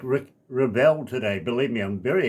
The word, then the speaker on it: Revel: And I and I pronounce it Rebel. Rebel.